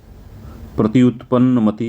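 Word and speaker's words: प्रत्युत्पन्नमति: है तत्पर बुद्धि है प्रति उत्पन्न मति का जो अर्थ होता है तत्पर बुद्धि होता है थोड़ा प्रोनंसिएशन देख लीजिएगा इसका प्रति उत्पन्न मति यही होगा इसका प्रोनंसिएशन उच्चारण ठीक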